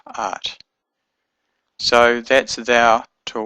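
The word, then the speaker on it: את: But if I say you to a woman, I say art, aleph tav, art.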